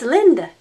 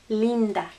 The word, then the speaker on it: Linda: we know that name that's linda nope sorry again what's the sound e linda linda linda you have to concentrate